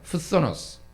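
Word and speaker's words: φθόνος: 푸소노스. 네, 발음이 쉽지는 않은데 굳이 또 왜 했냐면은 그 다음에 나오는 살인이 포노스입니다.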